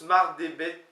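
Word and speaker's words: mard eo bet: Alors, on prononce Mardé, mais ça s'écrit pas comme ça. Ça s'écrit M-A-R-D, espace E-O, espace B-E-T. Mardebet, d'accord, M-A-R-D, espace E-O, E-O pour E, Mardebet.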